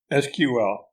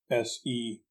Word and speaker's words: SQL: technologies note the acronym sql spelled that way is sometimes pronounced with the letter spelled out s-q-l but more often it is a homophone of the word spelled s-e-q-u-e-l and thus it is pronounced as such so you might say